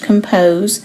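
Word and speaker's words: ∘: This open circle here is pronounced compose, and we read f compose g of x equals f of g of x.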